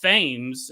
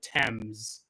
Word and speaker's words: Thames: I called it the Times, and because I knew it wasn't pronounced Thames, and then when I was editing, I looked it up. It's called the Thames, but that's just the way things go.